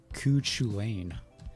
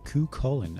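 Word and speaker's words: Cú Chulainn: so it turns out i was pronouncing that wrong all this time i was saying ku chulane but it's actually koo colon apparently i uh i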